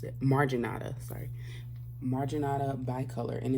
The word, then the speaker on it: marginata: is a bi-color by color goodness a bi-color magneta i never pronounced it marginata sorry marginata bi-color and it's called that because